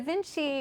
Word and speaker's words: VNCCII: And so Vinci is inspired by the name Leonardo da Vinci, the creative polymath, but I did something super weird with the spelling. It looks like Roman numerals, so it's spelled out VNCCII.